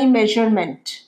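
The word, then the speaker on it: measurement: Size you হার ঠিক আছে please take my মেজারমেন্ট। আমার মাপ নেই। ধর তুমি জামাকাপড় বানাবে। মাপ দিয়ে বানাবে। Please take my মেজারমেন্ট। মেজারমেন্ট। মেজারমেন্ট। আটা উচ্চারণ হয় না।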